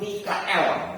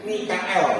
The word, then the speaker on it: Mikael: Pada waktu itu juga akan muncul Mikael. Mestinya bacanya gitu, jangan Michael gitu ya. Nanti punya teman yang namanya Michael gitu. Mikael gitu ya.